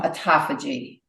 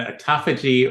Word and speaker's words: autophagy: What is apoptosis and how does it differ from autophagy? So apoptosis is simply the death of something, and autophagy or autophagy, depending upon who's pronouncing it, means self-eating, right?